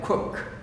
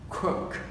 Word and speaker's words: cook: Mà chúng ta đọc là ua này, cook, cook, cook, đúng rồi, nhớ là ua nha, nó